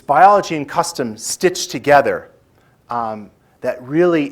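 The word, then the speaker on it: kastom: what I learned as custom now that's not a misspelling k a s t o m not like country kitchen but that's really how you spell it and custom is more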